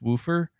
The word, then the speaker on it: woofer: gimmick you think so you're saying it's you're saying it is woofer like wolf I can't say I can't say that no way are you telling me that's actually the correct pronunciation it's woofer that sounds nah I